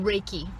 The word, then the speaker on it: Reiki: The most common and kind of gateway methodology is called Reiki. And most people How do you pronounce, is it Reiki? Reiki. Like, Reiki, 2 words. It's Japanese, 2 words.